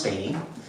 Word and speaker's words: Beatie: uk to speak on subject matter i'm beatty and i know you folks pronounce my name differently out here it's actually